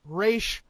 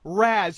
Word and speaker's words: Ra's al Ghul: is the pronunciation of Ra's al Ghul. Okay. It is Ra's, not Raz, you fucktards!